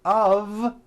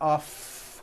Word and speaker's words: of: of liberty you see of is voiced here's another example it's made of glass or it's made of wood it's not off wood with an unvoiced f it's all voiced and it's all connected it's made of wood